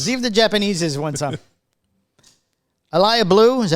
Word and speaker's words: Elie Bleu: Elie Bleu, is that how you pronounce it? Elie Bleu, we've done this three times now. Elie Bleu shipping to Opus Angel Share Stairway to Heaven Humidor.